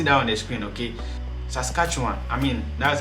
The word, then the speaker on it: Saskatchewan: you can see that on the screen okay saskatchewan i mean that's how i prefer to pronounce it so these are basically the 10